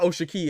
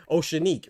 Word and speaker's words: O'Shaquie: Remember, hey, Southwest, it's not Osha Key. It's uh it's not Oshiki or Oshaki. It's uh Oceanique, right?